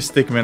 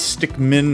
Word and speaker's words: Stickmin: i wasn't actually a stickman i was just holding my breath we're gonna play some more henry stickman collection apparently i've been pronouncing it wrong it's stick min not stick man so take that anger